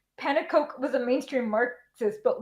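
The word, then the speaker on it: Pannekoek: How do you pronounce his name, Janet? Do you know? I would say Panakoic. Panakoic. Okay. Yeah, the end is Koek.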